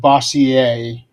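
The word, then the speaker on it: Bossier: Actually I think that's pronounced Bosier. Bosier. Yeah. Because it's it's supposed to be French.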